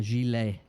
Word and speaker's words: gilet: A gilet. Like a jelly? No, like a... It's spelt gillet.